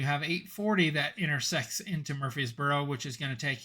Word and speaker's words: Murfreesboro: one interesting thing to note is how you pronounce it and it's Murfreesboro and it was not easy for me to